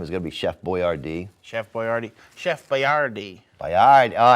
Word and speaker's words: Boyardee: of all time is going to be Chef Boyardee. Chef Boyardee. Chef Boyardee Boyardee. Oh, I knew you would know the correct pronunciation.